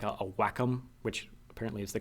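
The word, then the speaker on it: Wacom: for anybody who's ever used a like a whack which apparently is the correct pronunciation I was told it's not wake I've been pronouncing it wake all this time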